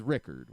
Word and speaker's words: Ricard: It was Rickard. Was how you pronounce Joey's last name.